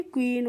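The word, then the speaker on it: queen: इसको हम कैसे पढ़ेंगे क्यू यू को पढ़ेंगे क्व क्या पढ़ते हैं इसको हम क्व पढ़ते हैं और डबल ई से हो जाएगी बड़ी की मात्रा और एन से क्या हो जाएगा ना तो इसको पढ़ेंगे क्वीन क्वीन मींस होती है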